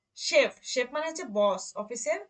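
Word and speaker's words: Chef: তারপর কি, শেফ, শেফ মানে হচ্ছে বস, অফিসের বস, শেফ। দেখেন তালবীয় শ শব্দের শুরুতে ছিল বলে আর উচ্চারণটা কি হয়েছে, তালবীয় শ এর মতো।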